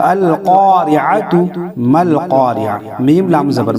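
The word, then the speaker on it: القارعة: अगर हम यहाँ वक्फ करेंगे, यहाँ ठहरेंगे तो अल क़ारिअह पढ़ेंगे, ता को हम हा बना देंगे।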